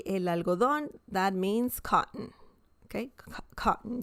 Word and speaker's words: algodón: Okay, el algodón, el algodón, el algodón. Remember the intonation. When you see an accent mark, the intonation is stronger. Okay, it's not el algodón, it's el algodón.